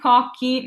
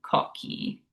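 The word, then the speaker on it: cocchi: It's also a hard ka. And cocky means coconuts. So no matter if it's a C or a double C, if it's followed by that H, it's always a hard K, K sound.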